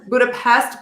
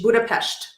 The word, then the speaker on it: Budapest: Everyone says Budapest, but it's pronounced SH, Budapest.